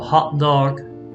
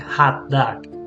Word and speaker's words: hot dog: So for example, hot dog is pronounced a little bit different in American English. It's more like a hot dog.